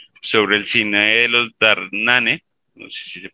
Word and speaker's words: Dardenne: 20 y 21 sobre el cine de los dardenne ane se pronuncia así y sobre los procesos de construcción